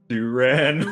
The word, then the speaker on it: Durran: Durran, like a durag.